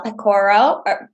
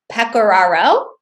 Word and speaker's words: Pecoraro: two amazing speakers uh pacoro i'm gonna butcher your last name so please correct me if i did say it wrong pecoraro all right and lauren